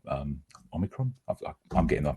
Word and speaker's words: omicron: we'll just have to wait to see our omnicron um omicron i'm getting that pronunciation people are often wondering how to how